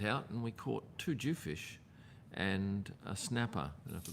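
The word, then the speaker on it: dhufish: But um a week ago, I went out and we caught two Jew fish and a snapper.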